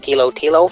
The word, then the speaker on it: Thilotilo: It looks like T is, likes the H is silent in his name, so it looks like it's just Thilotilo for him.